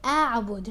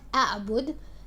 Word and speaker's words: أعبد: So how do you say it? You say أعبد, not أعبد. It's أعبد.